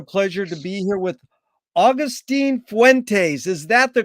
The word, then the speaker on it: Agustín Fuentes: It's an honor and a pleasure to be here with Agustín Fuentes. Is that the correct way to pronunciate that?